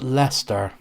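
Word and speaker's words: Leicester: to help you out that's pronounced Lester it's one of those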